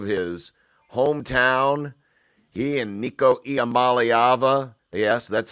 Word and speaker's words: Iamaleava: He and Nico Iamaleava, yes, that's how you say it, kids.